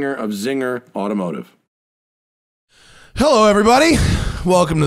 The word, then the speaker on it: Czinger: Kevin zinger of zinger and just like he told me earlier it like czar like the Czar of Russia sees II mean is pronounced Zee welcome sir Thanks smoking